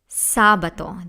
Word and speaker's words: sabato: hard I that's venerdi now we have Sabaton this is easy this word has three syllables say ba toe sabato so let's review Dominica